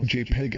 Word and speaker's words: JPEG: used for images on the web JP is pronounced JPEG and stands for joint photographic experts group the